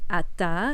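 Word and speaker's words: אַתָּה: entre femenino y masculino si es masculino se dice ata a como lo vemos aquí en la pantalla y si es femenino se dice at o sea sin la última app Entonces ya estamos haciendo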